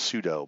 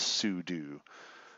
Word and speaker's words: sudo: here under system and sudio and it rhymes with voodoo I know in my brain even me not consciously thinking I read it as pseudo but it's not pseudo it's sue do so you just need